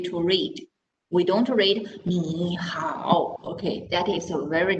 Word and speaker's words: 你好: Okay, so then when we say hi to someone, we are not reading 你好 because that is too difficult to pronounce. So we change the first word into second tone.